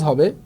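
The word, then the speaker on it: ح: তাহলে আমরা বাংলায় এই হ আকার হা আমরা পড়বো না। তাহলে আমরা এটা যেহেতু পড়বো না আমি এটাকে মুছে দিচ্ছি। তাহলে আমরা যেটা পড়বো এটা হা। হা। এই হা টাকে গলার মধ্যে একটু চেপে আনবো।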